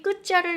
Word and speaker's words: 끝: 이 티읕은 어떻게 발음을 할 것이냐? 디귿으로 발음이 난다는 거죠. 그래서 자 이렇게 끝 이렇게 됩니다.